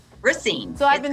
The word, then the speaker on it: Racine: No, it's Racine. Racine. Racine.